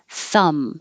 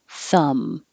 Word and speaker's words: thumb: it's common shin splints thumb has a silent b so forget about it you're just closing your lips for the m thumb and the vowel is